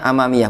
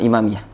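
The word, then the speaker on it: أمامية: ya Minal wajah Hai itu bacanya amamiya bukan imamiah membasuh arah depan wajah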